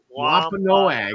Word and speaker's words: Wampanoag: Wampanoag, yes.